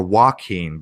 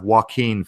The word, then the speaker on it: Joaquin: the names Jachin or Joaquin, because the J in many cases in modern times, the J is silent. So we have Joaquin Phoenix, right?